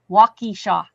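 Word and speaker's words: Waukesha: I graduated in Walk Walkeishaw. That's how you pronounce that.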